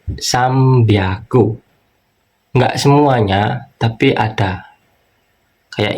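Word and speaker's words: 三百: Nah, di sini ini enggak semuanya, tapi rata-rata kalau di cara baca kita ada huruf N ketemu sama B ini kan N ya, sang sang kan N atau ngetama ketemu huruf B seringnya dibaca M. Jadi sambiago enggak semuanya, tapi ada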